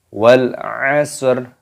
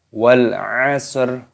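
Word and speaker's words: وَالْعَصْرِ: Wal asr. Wal asr. Perhatikan di sini ada alif lam qamariyah. Lamnya berharokat sukun, ini dimatikan, dibaca wal asr. Wal asr. Kenapa dibaca wal asr?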